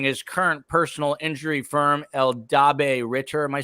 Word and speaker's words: Eldabe: Attorneys upon joining his current personal injury firm, Eldabe Ritter.